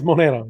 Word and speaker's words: Monero: Do I have to pronounce it like that? It's Monero, yes.